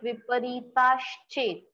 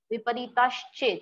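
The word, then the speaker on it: विपरीतश्चेत्: Here there is the mixture of sh and ch. So you have to recite it like viparitaschet. Viparitaschet. sh and ch को एक साथ आपको pronounce करना है.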